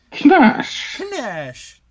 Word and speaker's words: Knash: It's spelled Knash, but the K is silent. Knash.